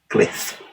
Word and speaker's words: Glyph: nintendo switch now this little game is called cliff that's how you pronounce it it's developed by blue burke games